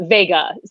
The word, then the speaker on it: Vega: with it somebody uh vega uh said vegas without the s that's a really helpful